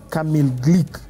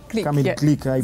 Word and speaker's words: Kamil Glik: Looking at the other players as well, you have players like, let me just get the pronunciation correctly, Kamil Glik. Glik, very good.